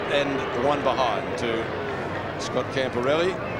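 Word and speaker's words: Camporeale: one behind to scott camparelli that is the preferred pronunciation that he likes camporelli and not other versions he says it's different back in italy but that's the aussie one that he knocks yes the italians uh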